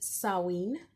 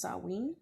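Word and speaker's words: Samhain: for it okay okay first of all it's pronounced saween okay it is the Festival of the Dead um it is the ancest of Halloween it's pronounced sarwin I know it reads champagne but it's pronounced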